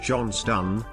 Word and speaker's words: Johnstone: I am here today to provide facts about the town of Johnston, pronounced Johnston.